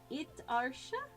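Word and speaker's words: itasha: Itarsha is how it's pronounced.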